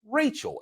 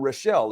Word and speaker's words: Rachel: So, so my great grandmother let us know that the name is pronounced Rachel, at least for our family line. So that's how I know that. Well, it's not Rochelle, it's Rachel for us.